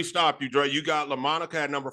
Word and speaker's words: Daryl Lamonica: George, Daryl, help me pronounce this one. It's Daryl Lamonica. Yeah, Lamonica.